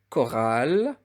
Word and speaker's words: chorale: Avec, avec la syllabe ch, avec CH, il se prononce K s'il est suivi par une voyelle. Je répète, s'il est suivi par une voyelle. Par exemple, le mot chorale.